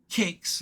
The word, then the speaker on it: Qix: Um, and he did Atari 8bit gameplay of Candy Factory, Playback, Kids on Keys, Kicks, that's Kicks spelled with a Q, QIX, and Savage Pond.